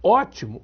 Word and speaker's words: ótimo: ela perdeu o c óptimo passou a ser pronunciado ótimo aí perdeu o p Então as consoantes Não